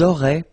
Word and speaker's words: auraient: link, but then look, A-I-E-N-T like that, and you only pronounce E, like we had here. It will be exactly the same pronunciation here. Ils auraient, elles auraient.